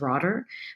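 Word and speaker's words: Rotter: T E R, but I think it's like Dutch or German. Anyway, so I'm going to mispronounce it as Roder, but Roder studied locus of control,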